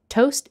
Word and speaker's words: toast: That's just popped out of the toaster. Tostapane. Covered in butter. Burro. Jam. Marmellata. Or peanut butter. Burro di arachidi. Toast isn't pronounced toast in Italian, but toast, with a long O sound.